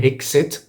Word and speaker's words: exit: ما اسمهاش exit، مش بالجي، ما بننطقهاش exit بالجي، هي اسمها exit بالاكس.